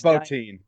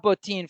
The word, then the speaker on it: Bottin: So, Rob, is it Bottin or Bottin? Do you guys know how to pronounce his last name? I'm pretty sure it's Bottin. Yeah. Okay, so Rob Bottin for le poulet français.